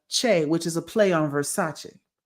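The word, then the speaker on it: Versachoi: his uh moniker is V E R SA Ch and it looks like Versa Choi when you write it in English, but it's really versa, which is a play on Versace, right?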